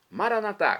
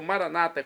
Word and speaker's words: Maranatá: Maranatá, como dizemos nós católicos, ou Maranata, como dizem nossos irmãos separados, os evangélicos ou protestantes. Não importa a pronúncia, o significado é o mesmo.